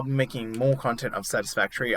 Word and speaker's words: Satisfactory: I'll be making more content of Satisfactory. I know I said the name wrong in the first episode. I said Satisfactorio.